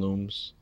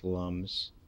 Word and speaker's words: Lums: or alums or whatever I call them looms but I know they're pronounce Lums but it's my thing